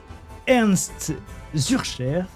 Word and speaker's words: Ernst Zürcher: Et aujourd'hui, j'ai le grand plaisir de recevoir Ernst Zürcher. Est-ce que je prononce bien ? C'est parfait. Ernst Zürcher, vous êtes ingénieur forestier,